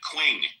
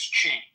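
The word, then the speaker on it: Qing: Quing. Hello, Quing. If I'm pronouncing that right. Quing. Quing. Q. Q I N G. Q I N G once. Q I There it goes. It's pronounced as Ching.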